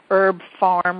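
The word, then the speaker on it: Herb Pharm: better brands of vitamins and supplements and herbs, Herb Farm, which is pronounced which is spelled H E R B P H A R M.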